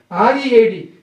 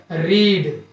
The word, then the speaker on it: read: The same way, R-E-A-D. This word is pronounced in a two way. For present, present form you call it read. For past form we call here read.